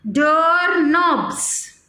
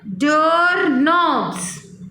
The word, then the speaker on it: doorknobs: Can you imagine a world without clocks, computers, or even doorknobs? What is this? Doorknobs. Again read it. Doorknobs. Look here, students. Beta, look here. This K is silent. We will not read this K.